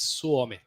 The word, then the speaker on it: Suomi: say Finland on there it says suomi am I saying that right uh kind of it's suomi suomi suomi sui right I've always